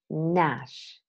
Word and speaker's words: gnash: Silent G words: gnaw, gnome, gnash, benign, malign, sign, design, align, foreigner, Dane, campaign, champagne, cologne, gnarly, new, knocky, gnat. I used American pronunciation of these words, but in both languages, the G is mute.